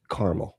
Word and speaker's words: Carmel: It's Carmel. Okay. I hate it when people pronounce it that way.